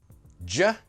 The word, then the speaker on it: do you: Let's just practice two very common ones. Ja. Ju. Say them with me, Ja. Ju. In the sentence, "ja wanna, dance?" "Ju wanna dance?" Both are completely fine, acceptable, good ways of pronouncing "do you", and of course yes,